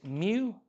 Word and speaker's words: mu: That one is mu, because it's not a Pokemon. It's because it's just pronounced m.